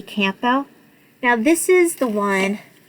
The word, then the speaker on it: Campbell: I say Campbell because there's a P there. Just curious. Because I get made fun of all the time for actually pronouncing the P in Campbell.